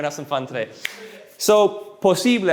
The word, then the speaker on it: posible: some fun today so posible also notice the i is pronounced differently so in english the letters